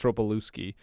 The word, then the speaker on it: Ropelewski: I think that's how you pronounce Ropelewski? it. Well, there's a Yeah. L-E-W. I think it's Ropelewski.